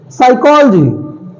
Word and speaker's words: psychology: Psychology. Many times this word comes in our life. Many times, so many times. Psychology. We think psychology word starts with S. No, it always starts with P.